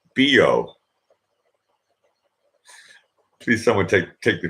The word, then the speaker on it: Bio: is Bo of spelt bi oh and it's pronounced Bo see someone take take the joke and run